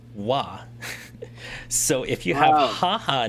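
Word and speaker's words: は: This thing right here um is also a sentence joiner uh pronounced as wah.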